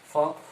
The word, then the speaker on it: folk: ফোক, FOLK, কিন্তু এদের উচ্চারণ নাই, ফোক।